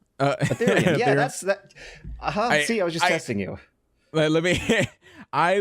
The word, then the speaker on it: Ethereum: That says how you pronounce it? Ethereum. Ethereum.